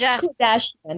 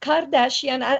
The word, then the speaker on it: Kodachian: She'll correct me the proper pronunciation. And it's Kardashian. Yeah, it's not Kardashian.